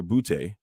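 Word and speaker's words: Boutte: England and their rookie receiver booty and and it's not spelled like boo b-o-o-t-y but I think it's like b-o-u-t-t-e bubute uh had an amazing uh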